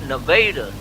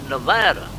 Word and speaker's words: Nevada: the tourists they're uh anybody who's from there calls it nevada yep and the tourists call it nevada that is correct and